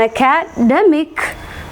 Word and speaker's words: academic: And moving on ടു the next word, academy, stress is marked on the second one, and academic on this particular syllable, and academician on this particular syllable.